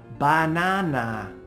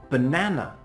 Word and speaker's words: banana: in the word banana it's not correct in English to say banana instead we only make that sound for the stressed syllable listen banana the first vowel becomes